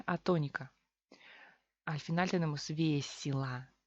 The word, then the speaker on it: весело: Al final tenemos весело. Y se convierte en I o se convierte en A. Parece que tenemos otra palabra, pero no. Simplemente relajamos la boca y pronunciamos весело, весело.